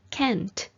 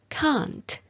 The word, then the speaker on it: can't: a an apostrophe T is pronounced as Kent in American English but it is pronounced as Kant in most varieties of British English I personally prefer the